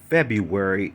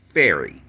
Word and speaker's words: February: Now, it's not just about the middle syllable, it's about the fact that where it's like the preceding letter and the preceding syllable. Um, you can't say the first syllable, which is Feb, and then miss the entire middle syllable and then go straight to the end.